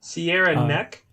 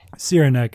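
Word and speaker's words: Cyranek: been a while but sierra neck sierra neck it's like c-y-r-a-n-e-k oh i've seen them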